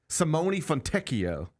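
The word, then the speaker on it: Simone Fontecchio: You got time to learn pronunciations of NBA players you never even knew existed. Yep. All right. So, it's Simone Fonteio.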